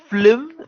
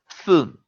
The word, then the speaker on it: film: Some people will also say film rhyming with the word slim, which is not right. It is film.